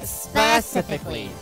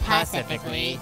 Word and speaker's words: specifically: It's pronounced specifically, not pacifically.